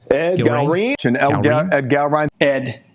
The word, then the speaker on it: Ed Gallrein: Ed Gallrein. Ed Gallrein.